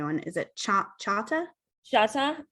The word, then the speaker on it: Choctaw: is it cha chata chata is how you actually well most people is c-h-o-c-h-o-c-t-a-w how people normally say choctaw but within that's how it's spelled actually so that is your